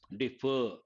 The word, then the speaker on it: defer: all these words defer second syllable should be pronounced stressed defer if it is the